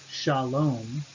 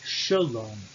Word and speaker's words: shalom: For instance, the absolute form, shalom, peace, in construct becomes shalom. Sha is an open syllable, sh, and then a with a long a. In that case, because it is an open syllable and unstressed, it becomes sh, shalom.